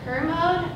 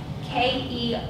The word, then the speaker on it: Kermode: The most common is Kermode. I believe I'm pronouncing that correctly. If anyone has heard it differently, please let me know. K-E-R-M-O-D-E.